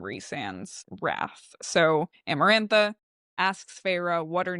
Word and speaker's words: Feyre: My name is Feyre. And Amarantha recognizes Feyre's name. And I really like the direct quote here, actually. She says, Feyre, testing her name, the taste of the 2 syllables on her tongue.